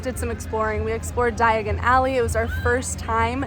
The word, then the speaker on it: Diagon Alley: by Floo powder and says diagonally instead of Diagon Alley. So sometimes I say it wrong.